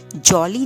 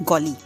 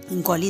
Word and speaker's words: golly: तो प्रोनाउंसिएशन क्या है इसकी, जॉली नहीं है, ज नहीं है, ग, गॉली। गॉली इज अ प्रोनाउंसिएशन, कि ही वॉज टोटली सरप्राइज्ड, बहुत खुश भी था कि अच्छा अर्थ डे है।